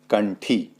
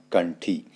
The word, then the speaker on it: कंठी: के रूप में होगा तो जैसे एग्जांपल के तौर पर हम देख ले कंठी ठ ठ से पहले अनुस्वार आया हुआ है तो इसलिए यहां पर ण के रूप में इसका प्रयोग होगा कंठी और भिंडी तो यहां पर न नहीं आएगा आधा अण यानी ण के रूप में इसका